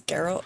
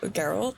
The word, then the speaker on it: Geralt: Geralt. Oh, his name is Geral. Geralt. That's how you pronounce it. I thought it was Geral or something.